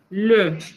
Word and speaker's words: le: Sonido cerrado que en español no existe. Usted, para practicarlo en casa, necesita dos movimientos. Uno, cerrar la boca más de lo normal. Y el segundo movimiento es llevar los labios, mientras hace eso, hacia adelante. Le. Y por supuesto, pronunciar esa E, es una E. Pero tal vez a algunos en casa les pueda sonar parecido a una O.